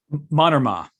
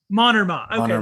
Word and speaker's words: Mannermaa: I so enjoyed this book is, and you pronounced his name to say this Finnish person's name again. Tuomo meant Mannermaa. Mannermaa.